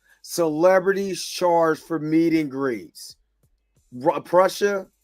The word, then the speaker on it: Prussia: charged for meeting grees Prussia is pronounced like Russia is Prussia okay and D Sizzle you're